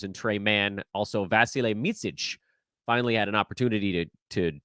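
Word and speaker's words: Micić: Vasilije If you listen to him say it, he says it so fast that it just sounds like Vasile. The slow version is Vasilije. Last name is Micic.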